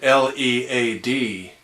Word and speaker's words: Led: says The Who and l e a d Zeppelin so still pronounced lead but um I'm afraid